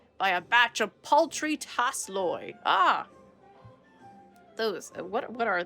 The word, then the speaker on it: Tasloi: off his back by a batch of poultry tasloid ah those what what are those hold on what are tasseloy it's pronounced taze Loy okay this is what do I need to